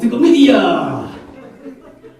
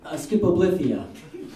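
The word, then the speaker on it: stichomythia: Oh, stickomythia!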